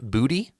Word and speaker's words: Boutte: Keyshawn Boutte, quite literally is how you say his name, another guy for the Patriots at $650.